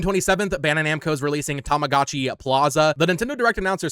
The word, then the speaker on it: Tamagotchi: June 27th, Bandai Namco is releasing Tamagotchi Plaza. The Nintendo Direct announcer said Tamagotchi. That's definitely not how you pronounce that, right?